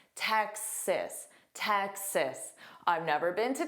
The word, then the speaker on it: Texas: But you need to immediately say cis. Sis. So you have that tech but instantly sis. Text. So, you have to add that s. Texas. Texas.